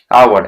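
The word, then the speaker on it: hour: जैसे देखिए, जैसे आवर, एच ओ यू आर, आवर, आवर means होता है घंटा, एक घंटा, तो क्या होगा, ए आवर होगा कि एन आवर होगा, ठीक है।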